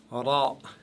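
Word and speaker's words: راء: Cette lettre n'existe pas dans la langue française. C'est le R espagnol ou italien. Attention à ne pas rouler les R avec cette lettre.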